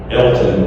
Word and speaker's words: Alton: And the guy's name is Elton, but it's spelled A-L-T-O-N, Alton.